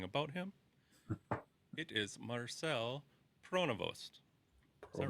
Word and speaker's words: Pronovost: It is Marcel Pronovost. Is that right? Did I say that? Oh, I shouldn't ask Dave. Neil, did I say that right? ask me. Pronovost, yes.